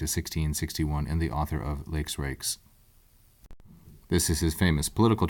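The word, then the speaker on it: Lex Rex: and the author of lakes rakes this is his famous political treatise that the law is king often pronounced elects Rex but pedantically i'm pronouncing the e's long lakes rakes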